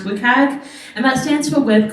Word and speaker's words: WCAG: The third term is this acronym WCAG, usually pronounced WCAG, and that stands for Web Content Accessibility Guidelines.